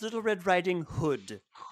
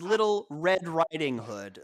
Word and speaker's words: Little Red Riding Hood: who's listening there it's little red riding hood the emphasis is on the riding hood the hood it's it's